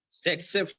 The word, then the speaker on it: tsetse: T is silent. Tsetse fly.